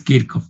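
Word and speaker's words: Kirchhoff: o la descubrió el kickoff otra le llaman quiso se escribe quiche pero es kiko de acuerdo el setsuv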